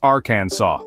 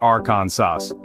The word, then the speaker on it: Arkansas: within its borders so remember it's aransa not aronas and if you thought